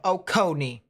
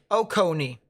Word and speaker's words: Oconee: something to watch out emphasis on the middle symbol co yep got it so oconee oconee oh connie ah ready gamer i